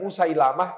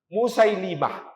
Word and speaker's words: Musailimah: penduduk Yamamah namanya musailimah saya luruskan banyak yang menuliskan namanya Musailamah saya cek di berbagai kitab sirah dijelaskan lamnya di kasrah bukan di fathah jadi yang lebih tepat dibacanya bukan Musailamah tapi musailimah musailimah pemimpin Bani Hanifah